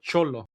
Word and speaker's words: Xolo: I butchered the name, and I know which name I butchered, and I butchered all of them because my Nahuatl is trash. But Cholo, it's XOLO, which is the type of dog, a Cholo Squinkle.